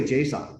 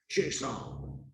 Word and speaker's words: JSON: and then Json now I say Json like Jason but with like emphasis on the J like Json right I've had people